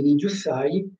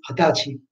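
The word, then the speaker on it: 二十歳: Come anche per l'età, Nijusai, non si legge Nijusai, ma si legge Hatachi, sono dei casi particolari.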